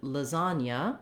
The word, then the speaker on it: lasagna: So in American English, the word lasagna has the stress on the second syllable.